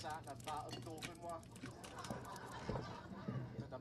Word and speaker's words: Dauphinois: Millions of people storming to death, and he's just sat in a vat of Dauphinois. Did I pronounce that correctly?